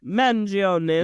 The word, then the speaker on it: Mangione: Mangione's. You gotta say it like an Italian.